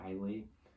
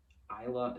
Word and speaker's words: Islay: Most people say Islay. But Islay is how it's pronounced.